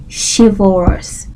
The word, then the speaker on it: chivalrous: Now, chivalrous is spelled CHIVALROUS, chivalrous. So you can see this word and think it's pronounced Chivalrous or something really weird,